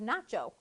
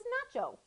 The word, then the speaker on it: Nacho: And his name rhymes with gazpacho. His name is Nacho.